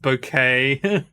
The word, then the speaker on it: Bouquet: Keeping Up Appearances one it's pronounced bouquet this is not the